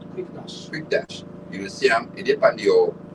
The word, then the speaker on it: Quickedash: It's spelled Q U I C K E D A S H. Quick dash.